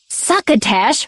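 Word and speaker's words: succotash: and suckatash said Stan suckatash rhymes with bash suckatash said Wall-E he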